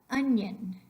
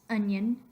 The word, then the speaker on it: onion: Onion is the ñ sound.